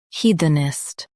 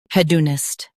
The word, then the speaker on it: hedonist: Now, let's focus on British pronunciation of this word, hedonist. Now, read the syllables of British pronunciation shown on the screen naturally. Head, ist, hedonist. Head, ist, hedonist. In US, stress he. In UK, stress head.